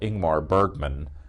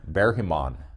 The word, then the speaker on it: Ingmar Bergman: in the beginning like like the Swedish director who was often called ingmar Bergman no no bear him on bear him on and